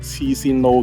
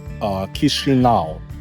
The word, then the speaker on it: Chișinău: It’s this place jokingly called "Chi Sin Nau" (which sounds like “crazy guy” in Cantonese). Just kidding—it’s not actually pronounced that way. In English, It's actually pronounced 'KEE-shee-NOW'.